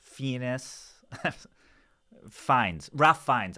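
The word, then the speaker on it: Fiennes: So that's Ralph Fenus. Fenus Fines. Ralph Fines. I think actually it's it's I can tell you how it's spelled. F I N.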